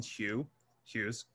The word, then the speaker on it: Hughes: And again, he makes it part of a three part song series based on poems by Langston Hughes. That's how you pronounce his last name, Langston Hughes.